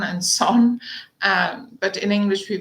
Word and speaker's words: Saône: and the Saône, in French it's Rhône and Saône, but in English we pronounce it Rhone.